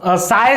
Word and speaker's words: chi: इसको ये जो सिंबल है इसको साई से रिप्रेजेंट किया जाता है, CHI इसका सिंबल का स्पेलिंग है, और सायर इसको प्रोनाउंस करते हैं।